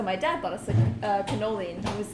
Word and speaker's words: cannoli: their tiramisu and their cannolis fun fact cannoli in italian means two canola means one yep well i am